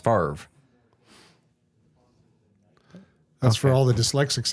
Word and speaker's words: Favre: it Brett Favre makes no sense but it's pronounced Favre that's for all the dyslexics out there yes